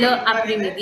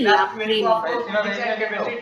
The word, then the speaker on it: l'après-midi: Like this won't be le après-midi, it will be l'après-midi. So this is all also what we will be working on in the class.